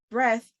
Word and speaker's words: breath: spelling of the words breath and breathe are so close it is very easy to get them confused try to remember that breath is pronounced with a short e sound and breathe is pronounced